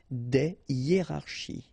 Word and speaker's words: des hiérarchies: Des hiérarchies.